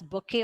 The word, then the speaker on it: bouquet: we call it has bokeh or flowers here t is silent how do you pronounce the word here we pronounce the word has bouquet of laws okay so